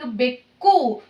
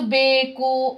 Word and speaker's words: ಬೆಕ್ಕು: Gunitakshara only changing, like bekku. Ku character you have to pronounce hardly. Ku. Bekku. Ku. Don't pronounce beku or beku like that. Bekku.